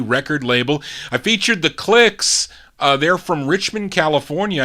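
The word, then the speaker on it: Klixs: here uh from october 1959 these are the clicks k l i x s on music city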